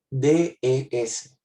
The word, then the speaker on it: des: D-E-S. Se pronuncia de.